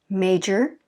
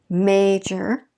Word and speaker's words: major: stress history historic okay major first stress is on the first syllable major we fall in our voice i don't if you notice major and then if we're